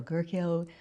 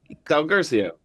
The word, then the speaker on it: Guercio: Uh so our guest today is Ben Del Gerio. Am I pronouncing that right? Garcia Garcio.